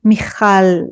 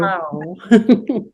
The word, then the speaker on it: Michal: Actually, you say Michal in Hebrew. Michal.